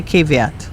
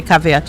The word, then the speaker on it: caveat: That is the either both pronunciations are respectable. Okay. Most of us say caveat. Yes. But if you say caveat, you won't be shut out.